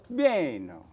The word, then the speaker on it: Baino: How do you say it? Baino. Baino. You have to say that. Baino.